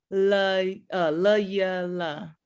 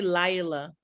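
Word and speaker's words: לילה: La yala. I say Lila, but la yala.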